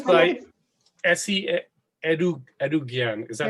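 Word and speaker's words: Esi Edugyan: Well, yeah, it's by Essie Edougian.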